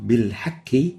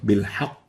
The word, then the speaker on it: بالحق: So saying بِالْحَكِّ instead of بِالْحَقِّ is wrong.